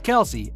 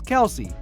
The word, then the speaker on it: Kelce: to tell you that it is actually pronounced Kel back in a 2021 podcast interview Kelsey revealed that everyone including NFL broadcasters fans and even his teammates had been mispronouncing his name in fact many of us often pronounce it as Kelsey but we as Outsiders